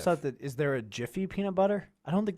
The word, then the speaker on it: Jif: is just one f j i f which if i'm not mistaken i think is actually how you pronounce it's not gif it's jif like the moving image that